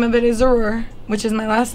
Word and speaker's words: Zrura: It's the name of it is Zrura, which is my last name. Okay. Zrura. Well, in Spanish it's Sarur. Oh, yeah, y'all can't say that, so it's Zrur.